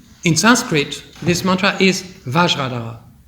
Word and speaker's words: Vajradhara: Sanskrit, this mantra is Vajradhara. But the Tibetan, they cannot pronounce V, and they cannot pronounce F, because these two sounds don't exist in Tibetan language. So Vajra became Benza.